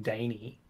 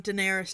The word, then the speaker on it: Daenerys: but Daenerys whatever but she pronounces it like Danny and I'm like what these are all um Daenerys Targaryen so it would make more sense to sense as opposed to Danny can you never do